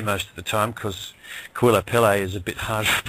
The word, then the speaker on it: Kauilapele: And that first word is spelled K-A-U-I-L-A-P-E-L-E, Kauilapele.